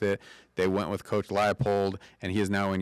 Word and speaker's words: Leipold: is that is that coach uh no Lance Leopold that's not what I call him that's not actually how you say his name it's Lance leipold but it's not really spelled that way but